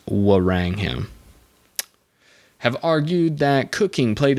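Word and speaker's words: Wrangham: rangham rang rang them i think it's actually pronounced warang him have argued that cooking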